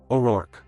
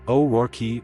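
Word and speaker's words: O'Rourke: The common corrected English pronunciation is basically two beats. O R U R K. Like work, but with an R sound at the front.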